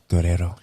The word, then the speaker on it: Guerrero: We have a wonderful actress that was awesome, Luisa Guerrero. It always sounds better if you say it like Enrique Iglesias. Guerrero.